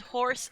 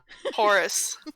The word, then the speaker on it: Horace: spell it for you Horace like that a Horace not horse no I said cookie hoarsely I understood that it was spelled like horse Horace Horace it sounds like horse oh so that I'm